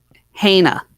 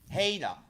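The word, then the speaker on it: Hajna: Haina. Haina. Okay. It's Czech. The J is like a Y.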